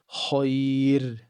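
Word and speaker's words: خير: Even if there's a fatha before a ya, it will be pronounced with empty mouth, right? So a word like this will be pronounced khair, khair.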